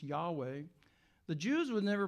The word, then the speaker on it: Yahweh: In the original meaning of that, they actually had a name for God, which we often, as most people think, was pronounced Yahweh.